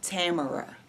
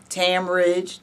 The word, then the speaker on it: Tamara: The correct pronunciation is Tamara. Rhymes with camera.